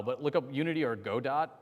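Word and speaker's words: Godot: look up Unity or God do God do is go d o t it's technically gdau but I'm pronouncing the whole all all the letters just so it's easier to write oh were you about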